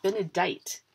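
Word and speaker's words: Benedicat: Benedict bless this house a little bit Bennett been a date is what it says and it must be pronounced that way because it rhymes with white which is yeah I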